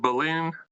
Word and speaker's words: Belen: I'm going to need you to help me pronounce the high school. Is it Belen? Yeah, Belen Jesuit.